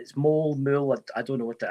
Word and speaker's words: Moule: I keep saying. My name's actually Moule. Now, there's multiple things that I don't know who changed that. It's Moule.